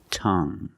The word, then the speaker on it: tongue: have this word tongue the UE e at the end is silent so we pronounce it like young tongue you have only the nasal sound there's no G it's just a sound tongue this is my tongue